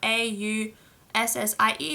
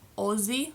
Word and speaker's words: Aussie: although it is about a u s s i e it's pronounced Aussie like there's an o if I can find